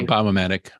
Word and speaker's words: biomimetic: Yeah, Biomimetic.